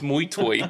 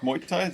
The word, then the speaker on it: Muay Thai: No, it's Muay Thai.